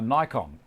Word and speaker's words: Nikon: Another one that's interesting, in the States, just about everyone there calls the camera that I own a Nikon.